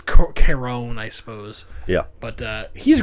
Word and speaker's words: Charon: It's like, no, it's Charon. Right. They always spell the word care on. Charon. Right. So, but they don't pronounce it like that.